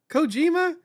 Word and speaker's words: Kojima: Kojima?